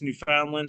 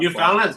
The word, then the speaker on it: Newfoundland: Newfoundland's dope, man. Their fishing community is dope. Sorry, you gotta say it fast. You gotta say it fast in Canada. They say it like Newfoundland.